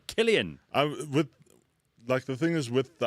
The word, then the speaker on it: Cillian: Is it Cillian or? Yeah, you see, Killian. Yeah. Killian. You meant to say Killian.